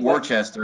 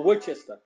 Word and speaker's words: Worcester: word you ready it's how do you say w-o-r-c-e-s-t-e-r it's it's a town outside of boston yeah say it again it ain't worcester unless you're not from there oh worchester okay no it's worcester yeah what's that yeah